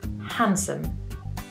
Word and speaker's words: handsome: And for this word, we say handsome.